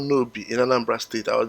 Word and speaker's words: Nob: However, the pronunciation is nob. It's, even though in English it's spelled nob, N-O-B, it's actually pronounced nobi.